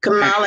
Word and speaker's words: Kamala: were saying you know kamla had made a comment about kamala i'm sorry i said it wrong kamala had made a comment